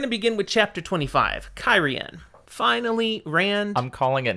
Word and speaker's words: Cairhien: Let's make up a new pronunciation. Cairhien.